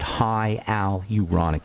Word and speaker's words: hyaluronic: High Al uronic acid High Al uronic acid is how you say that in the skin and